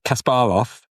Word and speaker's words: Kasparov: Or pronunciation. Surely Kasparov.